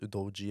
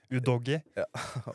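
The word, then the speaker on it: Udogie: han stortalent veldig god Jeg er litt usikker på uttalelse men jeg Tipper at det uttales udji eller Ja udy wow og udg men jeg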